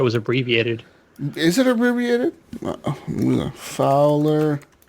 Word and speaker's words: Fwlr: Anyways, people, Fowler and Twistix Breakout is our intro song made for us by Fowler and Twistix. And Fowler is kind of weird. It's pronounced Fowler, but it's not spelled Fowler.